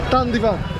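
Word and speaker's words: धन्यवाद: How do you say thank you again? Derad? Dandivan. Dandivan. Dandivan. Dandivan. Dandivan. Got there in the end.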